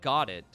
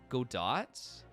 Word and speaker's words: Godot: reminded me of not got it go dots it's go dot not got it i've been saying it wrong all this time coco i played the entire third game calling him got it oh my god what